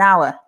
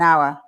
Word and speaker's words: hour: l in half and spanish speakers usually want to try to pronounce the h in hour so they say things